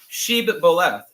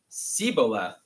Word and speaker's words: shibboleth: When he said no, they said to him, "Then say Sheb-boleth." And he said, "Siboleth," for he could not pronounce it right.